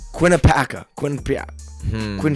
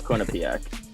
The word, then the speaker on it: Quinnipiac: one seeds Wisconsin versus quinnipacao Paulo Quinnipiac Quinnipiac yeah it's Quinnipiac my bad that's on me uh